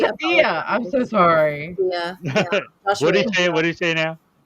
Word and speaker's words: Edilla: We don't know how to pronounce his name, so we're gonna Edilla. I think it's Adia. We're gonna mispronounce his way Edilla because he's not here. Adia. We It's Adia.